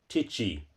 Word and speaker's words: tai chi: on either karate or taichi. Spell it. It's pronounced titi with a long i.